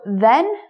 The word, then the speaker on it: then: Okay, so then sounds like Ken. You know, Ken and Barbie? Ken. It rhymes with Ken, then.